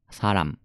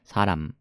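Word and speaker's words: 사람: 感じになります大事な発音の仕方口を閉じるんでさぁラムはらむそこを意識すれば 6 と観とか考えずに発音できると思います saran saran て発音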